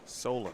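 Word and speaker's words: Solon: together Carson is uh help me with this pronunciation s o l o n Iowa oh Solen Solen okay s in Iowa s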